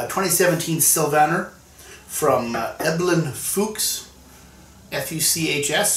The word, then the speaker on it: Fuchs: sylvaner from eblin fuchs f-u-c-h-s so i'm going to pronounce that fuchs as opposed to the other option from all sauce now